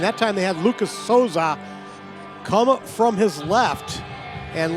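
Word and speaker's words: Sousa: Louis University Gets his third of the year with the assist from Lucas Souza. Lucas spells his name S-O-U-S-A. It's pronounced Souza.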